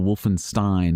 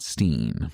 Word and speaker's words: Wolfenstein: I was corrected that it's Castle Wolfenstein, not Steen.